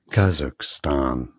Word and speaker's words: Kazakhstan: You know, each other in English as Kazakhstan. So that's a stress on the first syllable.